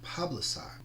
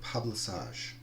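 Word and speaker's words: Pabilsag: Her consort, her husband, is the god Pablisage, or Pablisage, however you wish to pronounce it.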